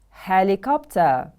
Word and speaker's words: helicopter: Helicopter, helicopter. The stress is on the first syllable.